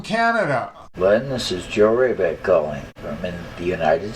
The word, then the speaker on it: Wrabek: I've been introducing your music under the banner of Joe Wrabek. No, not Rabid. That was the dog.